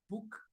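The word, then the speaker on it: BUK: And then we got Arul Prakash, founder of Book Technology, B-U-K. It's pronounced as book, but it's U-K.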